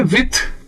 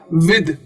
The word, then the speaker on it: with: dull I टी एच कई लोग इसको प्रोनाउंस करते हैं विथ यानी कि सॉफ्ट टी एच के साथ गलत है सॉफ्टच के साथ नहीं इसे हार्ड के साथ प्रोनाउंस करना होता है यानी कि यह हो जाता है विद विद तो जी य जो टी एच है यह द का साउंड ले लेता है विद हम इंडिया में काफी